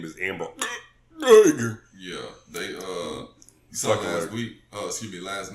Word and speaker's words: Amber Geiger: Yeah, her name is Amber Geiger.